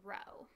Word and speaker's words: Rho: is the Greek letter Rho okay so that's not a PE that's not a P it's it's a Greek letter and it's pronounced Rho okay and that's gonna